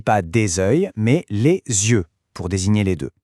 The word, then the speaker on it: yeux: Et la prononciation change du tout au tout. Les yeux, par exemple, il a les yeux verts. Notez aussi qu'on fait souvent les liaisons, les yeux avec un son Z au milieu.